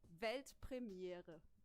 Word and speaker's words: Weltpremiere: It's actually Weltpremiere. Pretty similar, yeah, right? I think I could do that. Yeah, do it. Weltpremiere.